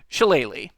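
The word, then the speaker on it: shillelagh: you don't take it shalele which uh as I've mentioned before is how you pronounce it uh or at least as close as I can come without a gaic accent shalele is a weird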